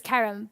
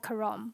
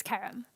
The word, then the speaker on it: Carrom: The right pronunciation is Carrom, but you'll hear the English call it Carrom, but it's Carrom.